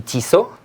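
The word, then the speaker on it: Tissot: this one would be t so not t SOT NAT ISA yeah it's pretty pretty simple T so pretty simple yeah there's no T at the end that's correct next on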